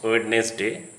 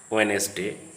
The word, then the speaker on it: Wednesday: Again, the D is sometimes silent after an N or before an N. Handsome, handkerchief, sandwich, Wednesday. Generally, students pronounce Wednesday. That is not correct. It should be said Wednesday.